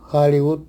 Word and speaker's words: Hollywood: En inglés y en quechua del Perú sí tienen sonido como una J suave, aspirada, como en hello, hola en inglés, suena hello. Hollywood suena Hollywood o hampi suena hampi, medicina en quechua.